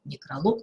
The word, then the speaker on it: некролог: акцентирую внимание на этом называющие неодушевленные предметы имеют ударение на последнем слоге эпилог каталог некролог но всегда есть исключения